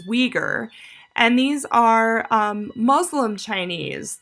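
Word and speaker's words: Uyghur: and religious ideas so the way you pronounce the name that begins with a U on the right side is Weger and these are Muslim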